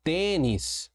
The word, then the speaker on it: tênis: Temos agora a palavra tênis. Opa, a regra nos diz que paroxítonas, tênis, eu tenho aqui, ó, a penúltima sílaba tônica. terminada em IS recebe acento sim. Então nós colocamos aqui o acento circunflexo, marcando aqui a tonicidade da sílaba.